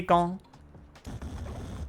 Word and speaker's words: gant: Cuz when you say when you say le gant you don't pronounce the hear the S at the end, right, Miss Dan? This is le gant. It's a nasal vowel.